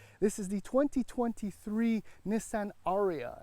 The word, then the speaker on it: Ariya: This is the 2023 Nissan Ariya, and that's accent on the ah.